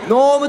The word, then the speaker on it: gnome: てまいりました gnome と書いてノームと言いますはい今年 2010